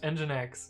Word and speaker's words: nginx: welcome to the stream it's actually pronounced nginx yeah i guess they pronounce nginx like most people pronounce engagement trying not to laugh